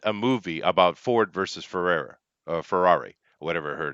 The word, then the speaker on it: Ferrari: Ferrari. Yeah, I get it. That's why I said Ferrara because I thought it was the lady. I mispronounced it.